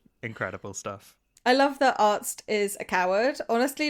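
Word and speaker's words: Arzt: Uh, we get this incredible discussion between Hurley and Arts where they're trying to pronounce Arts's name and Hurley's like, "Artst." He's like, "No, Arts. A R Zt."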